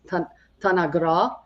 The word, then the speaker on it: Tanagra: tanagra that's another place that still exists today but we're saying it wrong it means uh the way to say it is T tanagra which means the land